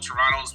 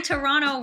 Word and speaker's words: Toronto: i was gonna say how do you say it right you you actually say toronto right like everybody leave toronto americans are always saying toronto uh what's your favorite